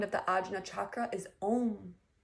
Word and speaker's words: Om: The sound of the Ajna chakra is Om. A-U-M, pronounced Om.